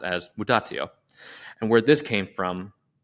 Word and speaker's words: mutatio: And so speaking of change, if you're wondering what the Latin translation of this, it's pronounced as mutatio.